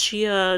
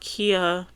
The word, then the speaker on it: Chia: It's Chia. It's not Kia. Where are we getting the ch Chia.